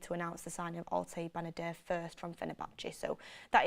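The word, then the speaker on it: Altay Bayındır: Altay Benadir, Dean Henderson to Crystal Palace will be announced, and you'll probably get the here we go on that.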